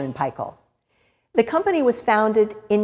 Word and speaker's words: Paykel: Which is why we call it Fisher and Paykel and not Fisher and Paykel or Fisher and Paykel. The pronunciation, of course, is based on where it was founded.